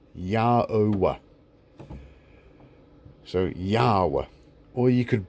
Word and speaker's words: Yahweh: So you could say God's name phonetically, and it is Yhwh, Yahweh.